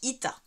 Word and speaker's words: êta: avez le éat alors en grec moderne ça se prononce pas éat ça se prononce it voilà mon voyage en